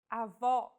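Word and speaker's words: avó: with the acute accent vowels with the acute accent will be stressed and pronounced with open Pronunciation Avo this word means grandmother if said with a closed vowel it would mean grandfather and with no accent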